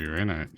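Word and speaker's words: Uraninite: Have a lot of uranite. Uranite. That's how you pronounce it.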